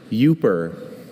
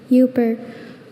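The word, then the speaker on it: Yooper: Yuper.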